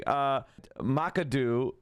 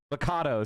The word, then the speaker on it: Machado: After the referendum results showed electors voted not to recall Hugo Chavez, members of the Sumate, including Macadu, Macadu, I don't know how to say her,